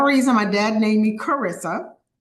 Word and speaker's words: Charissa: my dad named me Karissa c h a r i SSA and it's pronounced Karissa like character like Christmas you can say Christopher